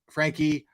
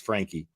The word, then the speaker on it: Franke: Blank was Ruby Franke was seen on YouTube on a YouTube video filmed, and I've been saying Frank. Sorry about that, but I know it's pronounced Frankie.